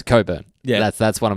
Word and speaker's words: Cockburn: I love people where the surname is Cockburn and they try to pronounce coburn yeah that's that's one